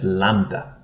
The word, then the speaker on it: lambda: we have the letter lambda lambda lambda equivalent to our letter l a word that starts